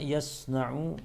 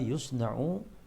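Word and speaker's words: يُصْنَعُ: Yang pertama, ma yasna'u bil udhiyah atau ma yusna'u bil udhiyah. Ya. Dimajhulkan bacanya, ma yusna'u bil udhiyah.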